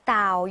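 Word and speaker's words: เต่า: 어 떴다 o 요렇게요 평성 과 그리고 1석 으로 떨어진 음으로 떴다 5 또 따오 요렇게 읽어주시면 됩니다 따오 라는 말이 이제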